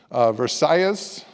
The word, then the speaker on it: Versailles: And then we also feature the Valls family in Miami, the people who founded Versailles Cuban restaurant, as Barb insists that I pronounce it that way, the Spanish pronunciation.